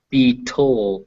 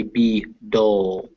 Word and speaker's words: beetle: Okay, so when you say these words, try to make sure it's dull, not toll. So you don't want to Yeah. say be toll. You want to say be dull.